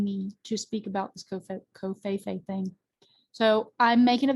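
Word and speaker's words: covfefe: And so COFeFe, that's how it's pronounced, COFeFe, like this, like the V doesn't exist.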